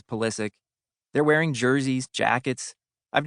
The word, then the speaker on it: Pulisic: In Germany, everyone pronounces Pulisic's last name Pulisic, the way it would be in Croatia, the birthplace of his grandfather Mate.